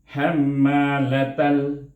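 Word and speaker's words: حَمَّالَةَ: Kita kena baca dengan izhar qamari. Jadi macam mana kita bacanya? Hammalatal. Dia itu dimatikan dengan huruf lam dengan izhar lam itu. Bunyinya tal.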